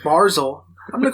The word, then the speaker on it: Barzal: Matthew Brazel, I don't know how to pronounce it. Barzal.